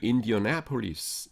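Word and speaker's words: Indianapolis: 인디아나폴리스도 인디어나폴리스. 하여튼 그 발음은 여러분들 이렇게 확인하시고 하시기 바랍니다.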